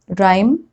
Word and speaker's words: rhyme: Rule number 3, H is often not pronounced when it comes after C, G or R. Like in these examples, choir, chorus, echo, ghastly, aghast, ghoul, or rhinoceros, rhyme, rhythm.